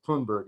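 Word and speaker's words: Thunberg: finger wagger here uh greta thundberg twonberg is actually a pronunciation reminding us that a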